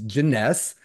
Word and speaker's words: Janess: her name correctly here it's janess which rhymes with finesse um and katees janess